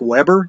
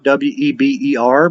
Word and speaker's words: Weber: of Max Weber and I know it looks like Weber w/e BER but he was German and so we pronounce his name Weber max said to compress